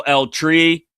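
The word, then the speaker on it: El Tri: California where I know El Tree. I said that as white as possible. El That's not a place where you roll your R.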